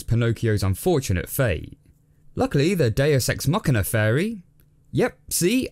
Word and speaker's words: Deus ex machina: Luckily, the Deus Ex Machina fairy... Yep, see, I made sure to pronounce it right this time. Deus Ex Machina.